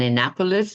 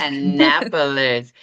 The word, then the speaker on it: Annapolis: but she now lives in, you'll have to pronounce this properly for me, an Annapapolis, Maryland, USA. Is that correct, Allison? Annapapolis. You're good. Annapolis.